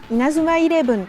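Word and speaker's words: イナズマイレブン: Là, c'est surtout, est-ce qu'on parle en français quand on dit Eleven, parce qu'on voit des E, on dit Eleven, ou est-ce qu'on parle en anglais? On va dire plutôt Eleven, avec le E qui fait I. Donc en japonais, Inazuma Eleven, Inazuma Eleven.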